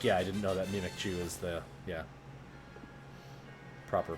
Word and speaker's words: Mimikyu: But secondly, like, yeah, I didn't know that Mimikyu is the proper pronunciation.